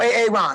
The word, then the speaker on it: Aaron: No AA Ron, huh? Well, you better be sick, dead, or mute, AA Ron.